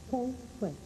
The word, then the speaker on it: Feng Shui: Há uma polêmica um pouco às vezes de saber como se pronuncia, né? Se é Feng Shui, se é Feng Shui ou Feng Shui. Bom, no que eu aprendi em Taiwan, que a pronúncia correta seria foneticamente Feng Shui.